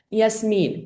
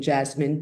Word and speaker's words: Yasmin: Yasmin, everybody pronounce this name Jasmine.